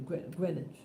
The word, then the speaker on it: Greenwich: on greenwich things greenwich street or greninja avenue greenwich that's how i pronounce it um yeah so when i